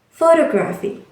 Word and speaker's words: photography: But in the words photography, it changed into the second syllable, photography.